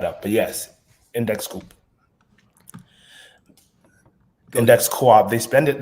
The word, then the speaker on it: Index Coop: but yes index coup index Coop they spend it they spell it like index Coupe but um it's index Co-op for index cooperative and the reason I